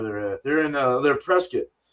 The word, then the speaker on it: Prescott: at they're in they're presc presc AR a um and that is the proper way to say it's not Prescott don't say it that way um this is a